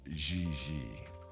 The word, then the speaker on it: JJ: gg jj on fiance you pronounce g like j and j like g she may very well be jj in america but in france she is gigi does it matter how